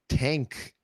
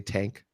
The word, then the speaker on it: Tangk: to pronounce it it's tank so it's t an GK and apparently you're supposed to put like a little emphasis on the G sound little stank on the